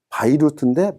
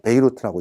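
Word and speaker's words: بيروت: 그러나 후사인이라고 읽는 사람은 없고 다 후세인이라고 읽고, 자, 레바논의 수도를 바이루트인데 베이루트라고 읽습니다.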